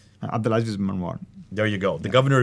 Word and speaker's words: Abdulaziz ibn Marwan: It was stated that the Cairo copy might have been written on the order of the Al-Azib ibn Marwan. Excuse me for my pronunciation. Abdulaziz ibn Marwan.